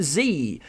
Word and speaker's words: Tse: as well as Kevin Z, which is spelt TSE. I believe that pronounces as Z, but correct me if I'm wrong.